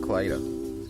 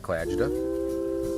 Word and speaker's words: Klajda: this out of the way right now it's pronounced clida not CLA not clah not CL that was my favorite one it's